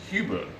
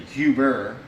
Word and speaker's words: Hubert: your last name and I said Hugh boo it's obviously Hubert but he look well